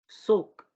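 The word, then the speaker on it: Zug: ये for instance टाक, ये टाग नहीं होगा, टाक, ठीक है, टाइक, सुक, ठीक है।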